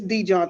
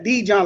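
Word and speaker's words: DeJohn: do you say that oh it's it's d john thomas man he john okay got it yeah dee john like dijon mustard i got you okay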